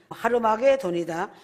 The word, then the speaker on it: 하르마게돈: 아마겟돈의 정확한 발음은 하르마게돈이다.